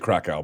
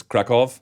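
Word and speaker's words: Kraków: Berlin to is it I pronounced it Krakow but it's Krakoff officially I have to say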